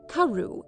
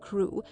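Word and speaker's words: Crewe: Madame Pascal pronounced it as if it were Karu instead of Krew, but that might merely be a matter of pronunciation.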